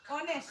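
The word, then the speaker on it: honest: এখানে অনেস্ট এইচ এর উচ্চারণটা কিসের মতো হচ্ছে, ও এর মতো হচ্ছে, অনেস্ট।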